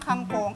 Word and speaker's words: kangkong: So ayun na nga, for today's video, ang gagawin natin ay stir-fried tofu with kangkong. Yes! Kailangan yung pag-pronounce mo ng kangkong, it's kangkong. Kangkong.